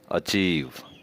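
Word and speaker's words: achieve: ऐसे अल्फाज में आवाज़ डबल ई के बराबर हो जाती है, मसलन डिसीव, अचीव।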